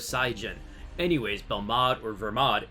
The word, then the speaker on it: Belmod: the same syllable so why would we call one Vegeta and one bell mod the answer is that it's just wrong any of the ver mod pronunciations that begin with the letter V would be correct it hers happen and